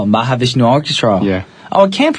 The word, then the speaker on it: Mahavishnu Orchestra: Mahavishnu Orchestra. Mahavishnu Orchestra. Yeah. Oh, I can't pronounce it.